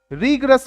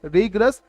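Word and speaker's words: rigorous: Stringent कठोर को बोलते हैं, रीग्रस बोलते हैं। क्या? रीग्रस। इसकी करेक्ट प्रोनाउंसिएशन क्या है? रीग्रस, रिगोरस नहीं बोलना, रीग्रस।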